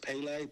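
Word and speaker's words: Pelé: It's pronounced Pele, P-E-L-L.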